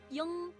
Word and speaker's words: ying: Also, please be aware that people from the northern part of China may pronounce ing in a very nasal way. For example, they might say it as yung, yung.